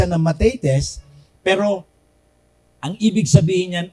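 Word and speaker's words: μαθητής: Matetes means, pinopronounce yan ng matetes, pero ang ibig sabihin yan ay learner or student.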